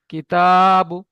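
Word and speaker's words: كِتَابُ: কা- কাপের নিচে জের আছে, জেরটা হারাকাত, তাড়াতাড়ি পড়তে হয়। তায়ের উপরে খাড়া যাবার আছে, এক আলিফ বরাবর টান দিয়ে পড়তে হয়।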